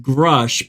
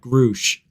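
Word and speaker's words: Grusch: I wonder who influenced grush by the way is how you say his name not Grouch well the reason I know how you say his name because he introduced himself as grush I find it hysterical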